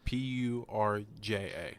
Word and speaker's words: Purja: fact was Nims, last name, how do you pronounce Persia, Purja.